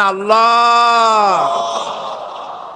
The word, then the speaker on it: আল্লাহ: পাকের নাম উচ্চারণ হচ্ছে আল্লাহ মুখটা একটু গোল হয়ে যাবে বলেন আল্লাহ আল্লাহ সুবহানাল্লাহ পৃথিবীতে বিভিন্ন